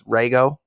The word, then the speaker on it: Reigo: just me but it the in Japanese the way that it's supposed to be pronounced is Rago so yeah sorry if